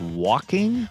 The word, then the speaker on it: Joaquin: care about it um joaquin phoenix none of those jokers matter to us wait it's pronounced walking walking phoenix it's a